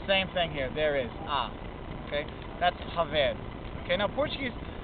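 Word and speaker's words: há: food at home ah it's spelled ha a but it kind of sounds just like ah just an a sound okay now I'm putting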